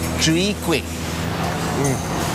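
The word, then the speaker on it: Chwee kueh: How do you pronounce this dish? Chui Kwek.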